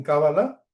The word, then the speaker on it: cábala: Entonces, en cábala con acento en la a es extremadamente importante moverse de una manera mística y con devoción, devocionalmente hacia lo superior.